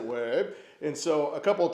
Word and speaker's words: ouais: had taught me that they don't say oui, as in yes in French, they say ouais. And so the Québécois pronounce it ouais.